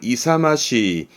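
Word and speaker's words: 勇ましい: 발음은 이사마시, 이사마시.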